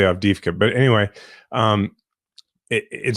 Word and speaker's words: Avdiivka: that's taken place in Ukraine, and it's what, Avidvia? I can't remember the name. I was hoping you would be able to pronounce this.